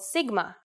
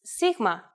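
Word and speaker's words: σίγμα: of the Greek language in English it's often called Sigma but in Greek it's Sigma and makes a sound interestingly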